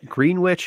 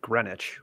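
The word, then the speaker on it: Greenwich: East Coast it depends if you want you can pronounce it green witch if you're not from there if you have money you'd pronounce it grenwich but um but uh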